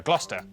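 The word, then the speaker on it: Gloucester: Cester is pronounced stir. Lester, Worcester, Glouester.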